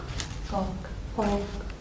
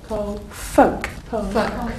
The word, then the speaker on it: folk: Folk. The L is silent. If I tell you the L. Folk.